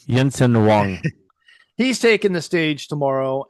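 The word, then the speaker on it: Jensen Huang: So, back to Brandon Jensen Hang. Is that how you say it? Okay. It's Yensen Wong.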